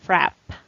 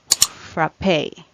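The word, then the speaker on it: frappé: chilled or partly frozen frappe or frap so both are correct it has variance this word has variance when it comes to pronunciation frappe or frappe what about this word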